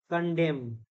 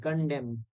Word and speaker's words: condemn: Condemn. N is silent. Condemn.